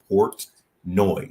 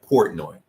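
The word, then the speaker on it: Portnoy: portoni I don't know I cannot pronounce his name I will do my best but it's Port noi yeah Port noi Port noi Port noi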